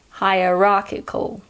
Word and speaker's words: hierarchical: military is very hierarchical I'll say it slowly hi Rocky cool hierarchical as you could probably hear the CH in hierarchical is pronounced just like CH in chlorine or chlamydia here's an interesting fact